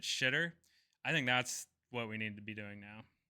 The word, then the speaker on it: Xitter: I think you just take Twitter, take the T off, put an X at the beginning, Xitter, and just pronounce it shitter.